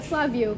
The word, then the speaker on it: Flavio: Yeah, Flavio. Flavio. You pronounced it right. There's an accent on the A as well, so I was like, oh, this is going to be fun.